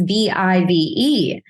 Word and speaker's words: Vive: me look and go obviously this is Vive funds there's no other way to pronounce it but then I rolled